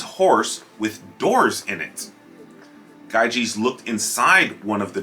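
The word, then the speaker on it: Gyges: there was a shepherd named gaijis pronounced gaijis one day while he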